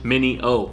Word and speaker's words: Mineo: mini mi and I - oh oh H mini Oh some way all out there were saying I